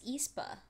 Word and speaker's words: aespa: learn so much from from espo or espor i apologize brown said it wrong i think it's espa yeah i mean i